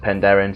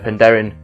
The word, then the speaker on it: Penderyn: Some say that it's pronounced Penderyn, so I've always said Penderyn, so feel free to correct me in the comments below.